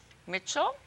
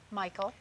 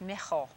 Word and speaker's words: Michael: In Czechoslovakia, it's pronounced Michal, but we've anglicized it somewhat.